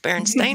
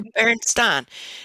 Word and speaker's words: Berenstain: was like, okay, is it supposed to be pronounced Berenstain or Berenstein?